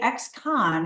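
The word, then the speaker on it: ex-Kahn: called an xcon and when I say xcon it's spelled k Ahn and I'll say that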